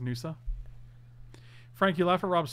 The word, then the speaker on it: Nissa: Please attack our Nissa. It's pronounced Nusa.